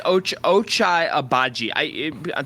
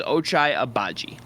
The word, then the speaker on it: Ochai Agbaji: But I think Ochai, however you pronounce it, I have to learn it still. I believe it's Ochai Agbaji.